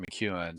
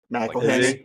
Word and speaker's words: McElhenney: And then there's Rob McEwen sitting like right there next, and he's short as fuck. McElhenney.